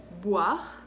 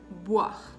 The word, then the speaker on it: boire: Entonces, para que lo puedan pronunciar, cuando pronuncio la B, mis labios se tocan, boire. Cuando pronuncio la V, mis labios no se tocan, sino los dientes superior van a tocar el labio inferior, ¿ok? Voir, voir.